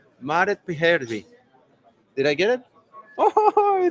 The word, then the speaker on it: Maaret Pyhäjärvi: Maaret Pyhäjärvi. Maaret Pyhäjärvi.